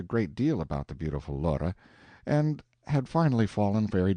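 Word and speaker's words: Lore: Laura, two syllables, was a water nymph who used to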